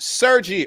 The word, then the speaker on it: Sergey: It's pronounced Sergi.